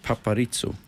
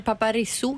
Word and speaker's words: Paparizou: Paparizzo. Eller det är inte Paparisso då, utan... Alltså, i Sverige så uttalar vi ju inte Z, vi säger zebra, eller hur?